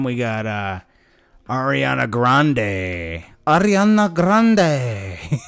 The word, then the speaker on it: Ariana Grande: got uh ariana grande ariana grande and that's what it sounds like how you should say it right ariana grande she said she's supposedly